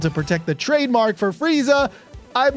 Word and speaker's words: Frieza: At the very least, the pronunciation of Frieza's name wasn't changed, so it's still Frieza.